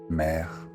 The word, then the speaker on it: mère: In the French language, the word for sea and the word for mother have the same pronunciation. Mère, mère.